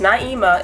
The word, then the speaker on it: Naima: For you guys who really do not know me, which is like the 40 subscribers that I actually have, my name is Naima. It's pronounced Naima.